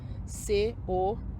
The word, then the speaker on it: county: Em inglês a palavra é county, C-O-U-N-T-Y, county. O T não se pronuncia.